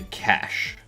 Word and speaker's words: cache: It's a cash, not a baked egg dish.